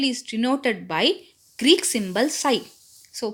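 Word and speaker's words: psi: denoted by Greek symbol sign so P is silent here site this is the symbol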